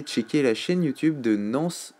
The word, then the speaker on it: Nans: Et n'oubliez pas d'aller checker la chaîne YouTube de Nance Chartier, N-A-N-S Chartier, comme ça se prononce.